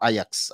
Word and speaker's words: Ajax: goalkeeper uh that's from Ajax or Ajax as some of you prefer to pronounce the name I think yeah that's